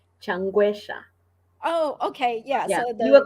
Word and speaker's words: Changwesha: pronounce your last name changuesha oh okay yeah you were close enough okay yeah so the e is a short e not uh so okay